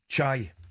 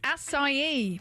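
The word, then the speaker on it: açaí: From talkSPORT Breakfast, I put Alan Brazil and Ali McCoist through their pronunciation paces. Ali, how do you say that word? Chai. Alan? Aki. That is incorrect, both of you. It is acai.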